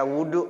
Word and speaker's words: وضوء: Nih makanya saya sampaikan di sini ya furudul wudu sama dengan arkanul wudu. Dia juga isinya. Wahwa, dan dia wudu maksudnya ya bidomil wawi, wawunya didomakan, wawunya didomakan, wudu.